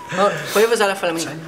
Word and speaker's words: huevos a la flamenca: Huevos a la flamenca. Ja, alleen dan zonder de G.